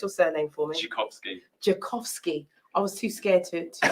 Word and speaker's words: Dzikowski: you're just joining us we have pronounced your surname for me jakovsky i was too scared to say down here